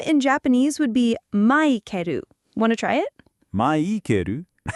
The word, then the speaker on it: マイケル: Your name in Japanese sounds like Maikeru, which matches the Japanese syllable system. Maikeru. Got it. Right. Japanese doesn't have certain sounds like the L at the end of Michael, so it changes to a vowel sound like ru.